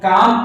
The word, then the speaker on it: calm: देखिए थोड़ी सी बात बताना चाहेंगे आपको, यदि कहीं भी यल के पहले ए आता है तो यल हमेशा साइलेंट रहता है, यल नहीं पढ़ा जाता है। जैसे यहाँ देखिए, इसको वाक पढ़ते हैं, TAL के, इसको टाक पढ़ते हैं, CALM, इसको काम पढ़ते हैं, इस तरह से याद करेंगे।